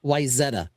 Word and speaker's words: Wayzata: Yeah, it's Wayzata.